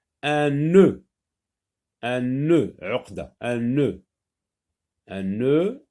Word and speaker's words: nœud: Un nœud, uqda, un nœud. Un nœud aussi contient le son E, mais attention là, c'est le son E. Il y a une longueur dans la prononciation.